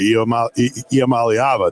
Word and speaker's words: Iamaleava: Iamaleava, Nico Iamaleava.